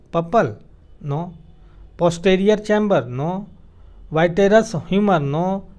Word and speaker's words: vitreous humor: It contains a jelly-like fluid called the vitreous humor या vitreous humor बोल सकते हैं। Vitreous humor is the correct pronunciation.